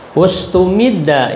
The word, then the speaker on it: ustumidda: Ustumidda, ini dimajhulkan bacanya, ustumidda.